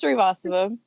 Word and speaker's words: Srivastava: our marimba 2, our guest for tonight, Nina Srivastava, who's going to tell me if I pronounced her name right. So it's Srivastava.